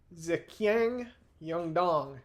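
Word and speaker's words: 自强运动: Note uh the Chinese characters on this slide are pronounced zyang yongdong and it is the Chinese name for the self strengthening movement.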